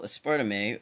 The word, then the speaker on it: aspartame: Well, aspartame, actually pronounced aspartame, is an aqueous substance which people often add to such liquids as diet sodas or tea.